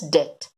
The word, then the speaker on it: debt: I mean you pronounce it एज डेप्ट but don't pronounce it as debt, it would be a wrong pronunciation, you call it as debt.